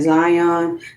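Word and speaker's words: Xion: Is that X I O N? Please show me how to uh pronounce that. Zion.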